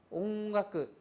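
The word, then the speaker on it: 音楽: 그래서 응이라고 하는 것은 카행이나 가행 앞에 가행 앞에 응이 올 경우에는 요것이 거의 응 발음으로 가깝게 발음난다는 거죠. 그래서까 강코 옹각 링고 이와 같이 응에 가깝게 발음이 난다는 겁니다.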